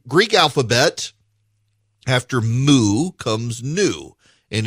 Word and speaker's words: Nu: So the Greek alphabet, after Mu comes Nu, and it is spelled N-U, but it's pronounced new.